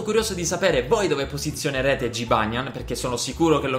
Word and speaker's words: Jibanyan: Sì, lo so che si pronuncia Jibanyan, ma nei primi episodi sbagliavo il nome e dicevo Gibenyan, perché non seguivo il